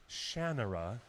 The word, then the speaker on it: Shannara: of voiceovers he's done for Disney Rene Auberjonois pronounced it Shannara and I wonder if mr.